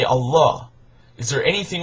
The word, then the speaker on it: Allah: And in Arabic, it's pronounced Allah.